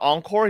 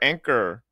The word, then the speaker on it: Encore: I was watching Tenten's clip talking about Encore. He calls her Anchor. Oh, it's not, bro.